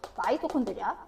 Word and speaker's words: 마이토콘드리아: 옛날에 이게 중학교 때 미토콘드리아라고 했는데 요거 발음을 요새 바꿔서 부르거든요. 마이토콘드리아.